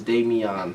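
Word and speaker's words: Damion: So, the pronunciation of D-A-M-I-E-N is Damien. Pronunciation of D-A-M-I-O-N is Damian.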